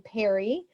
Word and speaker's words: Peery: So we pronounce my last name Peery as if it has two R's, but it doesn't. So it looks like Peery. So my last name is Peery.